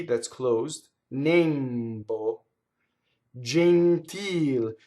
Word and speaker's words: gentil: Now we know this E is closed because where is the stress? The real word is gentile. So the accent of the word is on the E vowel, so therefore the E is closed. And I underline ones that we would tend to open, right? Our instinct would say gentil, right? Gentle is an English word, right?